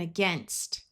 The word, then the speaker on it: against: In both of these words, the ai has the short e sound and the a at the beginning will schwah. So we have again and against.